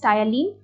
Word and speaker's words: ptyalin: टायलीन भले ही हम लोग टी से प्रोनाउंस करते हैं, बट हम स्टार्ट करते हैं उसको पी से। पी is silent, so you read it एज टायलीन, बट you right it with PTYALIN, that is the spelling.